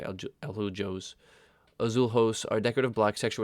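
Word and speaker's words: Azulejos: Azulhos. Azul means blue in Spanish, and you're not going to pronounce it J, you say Aljos.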